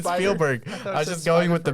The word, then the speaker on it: Spielberg: suck at reading names directed by stevonn spellberg i'm just kidding it's steven spielberg i'm just going with